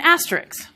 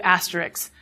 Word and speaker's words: asterisk: I call it an asterisk. Many of you may call it an asterisk. I really have to slow down to say asterisk. My pronunciation appears to have undergone metathesis to asterisks, and I'm not alone.